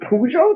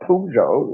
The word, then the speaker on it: Peugeot: say it pearson too it's even pujo though like it's about pujo no it's french in it like imagine